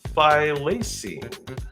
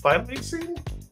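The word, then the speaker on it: thylacine: we'll move on it was also called a phine phine th h y l a c i n e fing can extinct in 1936 has banian Tiger despite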